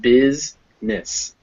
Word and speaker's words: business: of that silent e and business where it's not even pronounced it's just it's not business it's just bizness business now we have i